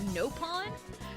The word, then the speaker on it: Nopon: Elma that's really it and I know they pronounced napon as nopon that's it that's really it I know nothing